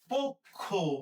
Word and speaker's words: পক্ষ: তার আগে প এর সাথে যে অ আছে এই অ এর উচ্চারণটা সংগৃত হবে। সংগৃত মানে ও এর মত উচ্চারিত হবে। এর মানে ঘটনা হইতেছে এটা আমরা লিখবো পওকারে প খওকারে খ। পক্ষ। এটা পক্ষ না।